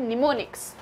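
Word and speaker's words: mnemonics: उसे कहा जाता है निमोनिक्स एमएस साइलेंट है एंड इट्स निमोनिक्स इसको प्रनंसीएशन भी बताया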